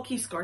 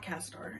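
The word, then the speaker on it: Caeror: Oh, Keyscore, not Cazador.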